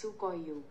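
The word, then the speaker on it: Sequoia: பண்ணிட்டோம் அதோட ப்ரொனௌன்சியேஷன் இதான் according to reddit i have often heard it pronounced sukay u நம்ம வந்து டவுன்லோட் பண்ணிட்டோம்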